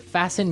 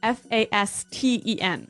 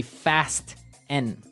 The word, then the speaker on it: fasten: It's spelled F A S T E N. Right. So, it would be fast N. No. No. Right. Fasten. Fasen. The T kind of becomes silent.